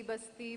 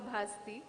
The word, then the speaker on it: ಭಾಸ್ತಿ: ಬಗ್ಗೆ ಹಲವು ಚರ್ಚೆಗಳನ್ನ ಕೇಳಿದ್ದೇನೆ ನನ್ನನ್ನ ನನ್ನ ಸರ್ನೇಮ್ ಅನ್ನು ಭಾಸ್ತಿ ಬಸ್ತಿ ಬಸಂತಿ ಅಂತ ಏನೇನೋ ಬೇರೆ ಬೇರೆ ಸ್ಪೆಲ್ಲಿಂಗ್ ಗಳಲ್ಲಿ ಯದ್ವಾತ್ವ ಉಚ್ಚಾರಣೆಗಳಲ್ಲಿ ಹರಡಿವೆ ನಾನು ಭಾಸ್ತಿ ಮೂಲ ಊರು ಸಾಮಾಜಿಕ ಸಾಂಸ್ಕೃತಿಕ